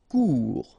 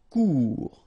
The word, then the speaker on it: court: Court, final T not pronounced, court. Remember, when you combine this O and U together, you get the sound OU, court.